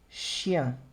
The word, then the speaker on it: chien: Ou eu tenho, por exemplo, chien. D'accord? Chien. Chá, chien. Né? Ó, percebe o T aqui que eu não pronuncio no final?